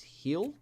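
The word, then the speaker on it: Gil: Shane Boz, Cutter Crawford, and Luis Heel. Apparently is how you say this guy's name.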